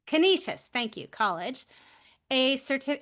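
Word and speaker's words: Canisius: master's degree in education from I can never pronounce this right. Is it Kenysius? Kenishious. Kenishious.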